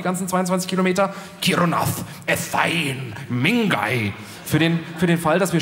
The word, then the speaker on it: Milngavie: einen Vorort von Glasgow, der Milngavie heißt. Denke ich, ist aber Quatsch, wird ganz anders ausgesprochen. Mingay!